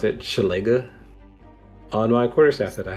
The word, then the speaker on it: Shillelagh: That's how I pronounce it. Shillelagh.